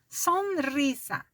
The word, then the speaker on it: Sonrisa: Sonrisa. assim como se fosse escrever em português, mas não termina com O, termina com A.